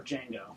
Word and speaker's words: Django: Joker uh DiCaprio and Django or D Jango whatever I believe the D is silent the D is silent